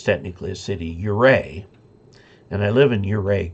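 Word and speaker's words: Ouray: it's technically a city uray and i live in uray county but you go to utah and there's a town called o-u-r-a-y that they pronounce oo-ray so it's funny how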